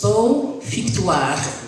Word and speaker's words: Beau Victoire: My company name, it's a little bit different to pronounce, but it's a French name. It's Beau Victoire, and the name is Beau Victoire is beautiful or great victory.